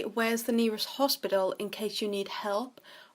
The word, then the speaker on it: hospital: Then we have el hospital, so the H is silent.